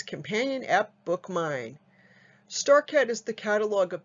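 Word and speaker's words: BookMyne: And BookMine is spelled B-O-O-K-M-Y, like my, N-E.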